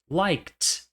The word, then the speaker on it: liked: O K é uma consoante sem som, portanto, as formas past simple e past participle vão ser liked, liked. Olha a representação fonêmica e perceba que não há som de E.